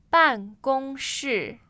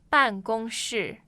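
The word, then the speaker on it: 办公室: So again, the pronunciation, please. 办公室。 So office. 办公室。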